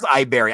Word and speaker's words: Iberry: Oh, actually, it is Iberry.